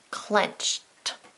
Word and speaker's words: clenched: spelled with e d they just sound different clenched clenched what do you hear when you say clenched well my mouth is making the t sound so it's going to